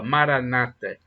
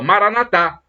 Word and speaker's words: Maranata: Maranata, como dizem os protestantes, com a tônica na penúltima sílaba, Maranata. Os católicos dão a tônica na última sílaba, Maranatá.